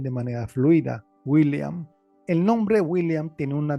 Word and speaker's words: William: pronuncian de manera fluida, William. El nombre William tiene una doble L, pero esa doble L no se pronuncia como en el español.